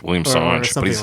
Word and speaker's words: William Singe: probably else Australian well it's spelled the same way as the French word for monkey Sange okay how do you pronounce aange William Sange like that Australian but he's Australian Sange it's like how van like wine in French is Van but it's like V